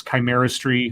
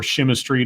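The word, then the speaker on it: Chimerstry: well i guess it's chimeras tree or shimistry depending on who you're who's pronouncing it the ravnos um clan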